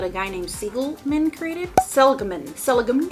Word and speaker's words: Seligman: Seligman. It's probably pronounced Seligman.